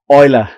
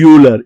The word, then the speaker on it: Euler: greatest mathematicians of this millennium, the last millennium, Euler. Some people pronounce it as Euler.